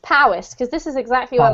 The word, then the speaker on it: Powys: This one's pronounced Powys, because this is exactly where my dad lives, actually, so I know that one.